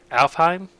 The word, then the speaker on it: Alfheim: the portal 2 f Alfheim that's how you say it alfheim but basically what i